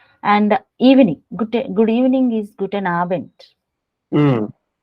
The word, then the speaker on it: Guten Abend: Good evening is Guten Abend. Mm. So D also. Whenever a word ends with D, it should be pronounced as T.